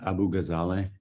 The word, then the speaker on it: Abu Ghazaleh: and address please yes my name is Abu ghazaleh it's spelled a b u g h a